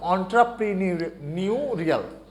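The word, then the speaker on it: entrepreneurial: এটার উচ্চারণ করতে, প্রোনাউন্সিয়েশন করতে অনেক স্টুডেন্টের প্রবলেম হয়। এটার এক্সাক্ট উচ্চারণটা হচ্ছে অন্ট্রাপ্রিনিউরিয়াল। ওকে, অন্ট্রাপ্রিনিউর থেকে এই অন্ট্রাপ্রিনিউরিয়াল আসছে। উদ্যোক্তা পুঁজিবাদ, শেষ থেকে যদি আসি অর্থগুলো, নাম্বার 4-এ বলা হয়েছে উদ্যোক্তা পুঁজিবাদ।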